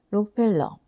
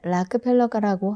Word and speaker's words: Rockefeller: 그럼에도 불구하고 균형감을 가지기 위해서는 록펠러, 원래 발음은 락펠러가라고 한다. 록펠러는 일본어식 영어 표현이다.